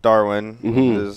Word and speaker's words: DARWN: got Dalton little Devin Wilson from the band Darwin how it's pronounced you go in I have I have